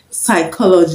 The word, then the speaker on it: psychology: pronounced another word is psychology psychology DP in psychology as you know is not pronounced pneumonia pneumonia the p